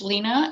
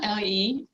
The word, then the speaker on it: Lena: It's Lena, Lena, and, and even Swedes.